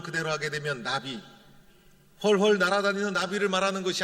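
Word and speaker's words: נביא: 바로 호세아 예언자였다 것입니다 예언자는 히브리어로 나비라는 발음을 하게 됩니다 우리나라 발음으로 읽다 보면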